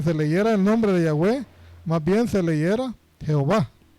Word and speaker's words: Yahweh: Eruditos hebreos generalmente favorecen Yahweh como la pronunciación más probable.